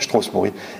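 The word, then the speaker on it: Strossburi: destination c'était Strasbourg et il l'avait proncé stospor comme onalacien on alscien Strasbourg c'est strospori et je me suis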